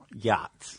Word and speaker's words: yachts: But even if you say it like it's spelled, you come up with yaks.